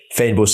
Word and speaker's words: fynbos: It's FYNBOS. So it's like fynbos. You would say fine, but because of the Y, you kind of drop that sound a bit. It's like fein.